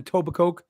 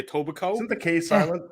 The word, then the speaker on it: Etobicoke: I'm just saying it's a tobacco right like a silent k i just well I I went I went with the etoba instead of tobacco I think it's a tobacco if I had to pronounce it I would say Etobicoke yeah I've got you